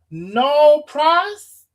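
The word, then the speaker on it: nolle pros: Y'all say it's pronounced no pros.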